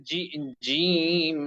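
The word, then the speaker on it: ج: আছে আচ্ছা ঠিক আছে বরাবর জিহ্বার মাঝখান উপরের তালুর সঙ্গে লাগিয়ে শক্তভাবে জিম অক্ষরটি উচ্চারণ করতে হয় এক নাম্বার ঘরে সবার প্রথমে সবার শুরু থেকে সকলেই খেয়াল করেন জিম জের জিম জির জিম জির জিম জির জিম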